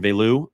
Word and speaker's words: Veilleux: the pronunciation the the the last name really sounds a lot like Mario Lemieux Christian Vu is uh is how it's really pronounced uh we'll continue to